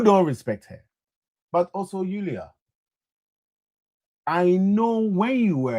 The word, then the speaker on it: Julia: Now listen me, I'm sitting here all the way in East London and I'm mispronouncing her name, saying the J instead of the Y.